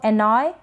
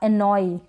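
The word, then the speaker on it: annoy: होता है शाही एनॉय इसको एनॉय या एनोई दोनों तरीके से ई भी आप इसका ई का लास्ट में साउंड ले सकते हैं या य का परेशान करना इसका मतलब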